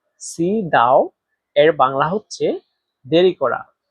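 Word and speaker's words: 迟到: দেরি করা এর সাইনিজ হচ্ছে সি দাও। সি দাও এর বাংলা হচ্ছে দেরি করা। এখানে দেখেন সি। এটাতে চাইনিজের দুই নাম্বার টন ব্যবহার করা হয়েছে। আর দুই নাম্বার টন উচ্চারণ নিয়ম হচ্ছে নিচ থেকে উপরে।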